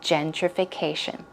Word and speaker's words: gentrification: Gentrification. Stress goes right there.